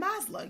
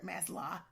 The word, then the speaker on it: Maslow: Self-actualization is the pinnacle of human development, according to humanist psychologist Abraham Maslow. Y'all know him if you're Maslow. Maslow for Californians, Maslow for Southerners. Okay, low, like LOW.